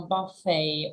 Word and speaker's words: buffet: and another word uh buffet or Buffet depending on what you want buffet buffet buffet right so uh these are foreign words not English words I mean that probably they came from French they have lots of adopted tours and these ones were adopted that's why they are hard to pronounce buffet or buffet and